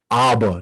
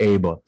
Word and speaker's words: Aba: For future reference, we'll be sure to pronounce the individual's name Abba, not Aba.